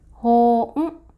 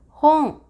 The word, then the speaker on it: 本: For onyomi, this is pronounced as hōn. For kunyomi, you can pronounce as moto. The basic meaning of this kanji is book and base. For now, please remember hon means book.